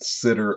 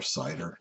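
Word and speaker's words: CIDR: prefix um there are different sitter options uh or cider depending on how you pronounce it um but they're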